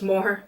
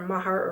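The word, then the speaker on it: Moher: some more before and that starts pronounced more not more hair or Mahar or whatever it's because of more and they are stunning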